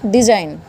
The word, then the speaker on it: design: DESIGN तो जी के last में एन आया, दैट विल डिजाइन।